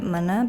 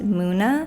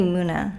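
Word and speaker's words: Munna: I have been pronouncing it Muna because the U kind of throws me off, but I saw people online say it's pronounced Muna, which I guess makes sense, I think. So I'm gonna say Muna.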